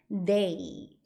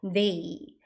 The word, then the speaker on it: they: 이때도 th가 발음이 아니라 발음입니다. 디귿 발음 they 이렇게 발음합니다. 조금 어렵죠? 하지만 열심히 연습해 보시면 돼요. 혓바닥 계속 빼시고 they 이렇게 발음하시면 돼요.